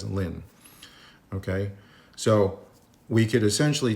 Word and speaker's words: ln: We we call it or we pronounce it as lin.